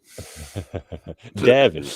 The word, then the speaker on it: Davin: of devin uh davin is actually the pronunciation there oh thank you that's